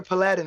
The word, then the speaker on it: paladin: Nazgul, you're a paladin, right? Paladin. It's your accent's on the wrong syllable of that word. It's paladin.